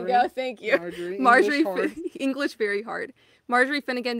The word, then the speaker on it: Marjorie: There Marjorie. We go. Thank you. Marjorie.